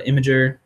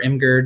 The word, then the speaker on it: Imgur: um i do uh imager um or imgur depending on how you say it like you put up